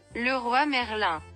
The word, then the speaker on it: Leroy Merlin: Of course, here it's pronounced Le Roi Merlin, but we like to call it Leroy Merlin because it's funny.